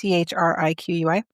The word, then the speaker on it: Chriqui: Oh, I looked up how to pronounce this. Shriki, I think. Mm-hmm. It's Chriqui.